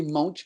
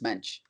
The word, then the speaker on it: Moench: Yeah, I used to say Moench, but I think someone said it's Mensch, as far as I know.